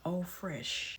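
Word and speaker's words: eau fraîche: When you spray a perfume, fragrance mist, eau de parfum, eau de toilette, eau fresh, EAU, and then FRAICHE. Eau fresh is how it's pronounced.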